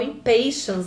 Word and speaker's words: Impatiens: grupo, que é o Impatiens, que também é o Impatiens, né? Que a gente pode chamar assim se a gente quiser seguir bem certinho a pronúncia inglesa.